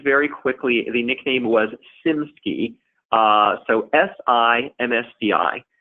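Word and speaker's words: SiMSCI: quickly the nickname was sim ski so si msti basically it was a short way of pronouncing Singapore si MSCI so sim ski we've mentioned it a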